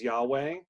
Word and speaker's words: Yahweh: left is the name of God which we pronounce as Yahweh reading right-to-left why HWH we did the H